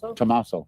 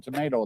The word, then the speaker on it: Tommaso: Tommaso. Yep. They call him tomato. They see people put tomatoes, and that's because they're talking about Tommaso.